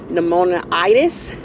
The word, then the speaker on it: pneumonitis: I believe the word's pronounced pneumonitis. The end of the word is pronounced itis.